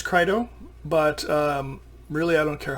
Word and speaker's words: Crito: people pronounce it Crito, some people pronounce it Crito. I believe it's Crito, but really I don't care how you pronounce it.